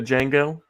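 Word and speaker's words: Django: true I don't know this is a Jango the D is silent hmm Jango wasn't a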